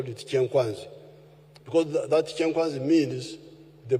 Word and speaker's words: Kyankwanzi: When you hear this kyenkwanzi, which the Waganda mispronounce as kyankwanzi, it is kyenkwanzi.